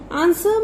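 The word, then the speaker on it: answer: आंसर में कौन सा वर्ड साइलेंट है आपका, डब्ल्यू, सो सर्कल डब्ल्यू.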